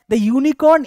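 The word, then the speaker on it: unicorn: আমরা চলে যাচ্ছি বলেছে ইউনিকর্ন is dash fabulous animal ইউনিকর্ন is dash fabulous animal অনেকের মনে হতে পারে অনেকে না ইউনিকর্ন দেখে ইউনিকর্নের উচ্চারণ ইউ হচ্ছে অন্তিস্তয় রসু দিয়ে শুরু হচ্ছে অন্তিস্ত তার মানে হচ্ছে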